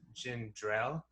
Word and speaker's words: ginger ale: uh they said jin people say uh you're from a certain area if you pronounce it jin drell like g-i-n-d-r-e-l-l i love it no